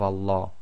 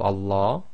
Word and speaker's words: Allah: the English word lamb if the sound before the name of Allah is either a fat or a then the Lamb of Allah is going to be pronounced in a heavy fashion I or full mouth so the lamb sound will now change to La as in the English word large so it's a very